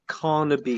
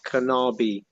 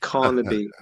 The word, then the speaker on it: Carnaby: the way tim is on carnaby street not kanabi yes carnaby you know i had